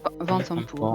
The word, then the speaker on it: Vanthampur: Pardon, Vatampour. Vatampour. Vanthampur. Va-t'en pur. Vent. Moi j'ai noté vent. C'est va ou c'est vent? Vatampour. C'est Vaen. Vatampour, ouais, voilà.